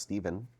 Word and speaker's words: Stephen: Stef Stefen Steven Stephen Stefan Stephen ph you you it depends usually it's pronounced Steven okay so we have